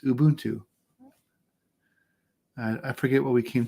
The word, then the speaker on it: Ubuntu: looked it up and Ubuntu is a Zulu word pronounced Ubuntu I forget what we